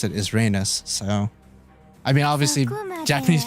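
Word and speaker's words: Reines: By the way, I've always called her Rains, but I was actually rewatching some El-Melloi case files cutscenes, and it's pronounced Rhaenys, and now I feel like the biggest idiot of 2021.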